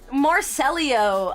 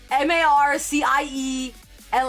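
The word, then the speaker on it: Marciello: I think the way that I'm saying it, he would be spelled M A R C E L L I O. Marcelio, but it's spelled M A R C I E L L O. I think it's Marciel.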